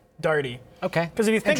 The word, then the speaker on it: Daigle: that's how people speak when i tell people how to pronounce it i say d-a-r-d-e-e and you just say it as fast as possible dirty okay because if you